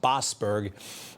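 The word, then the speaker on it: Boasberg: It's pronounced Bosberg.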